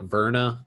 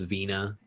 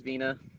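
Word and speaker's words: Virna: at first it's like verna but i've heard it pronounced vena just because in obviously in brazilian culture they dropped that r a lot i do it is veena yeah so it could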